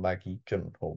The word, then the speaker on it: Maggie Gyllenhaal: Maggie Gyllenhaal, that's how you say it.